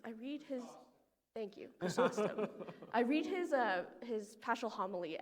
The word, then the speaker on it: Chrysostom: But Calvin, Augustine, and Chrysostom, I can never pronounce that name. John, anyways, I read his... Thank you, Chrysostom.